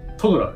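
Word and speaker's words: トドラー: で、これなんて読むの？トッドラーって読むんですか？トドラーですね。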